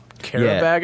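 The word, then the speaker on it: Qarabağ: Karabag, I think is how they're called, how they're pronounced.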